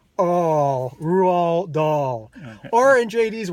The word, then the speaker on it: Roald: Roald Dahl. I do not think you actually pronounced the D in Roald Dahl.